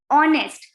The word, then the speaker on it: honest: o is a vowel honest because h is silent so it is a vowel sound okay so though these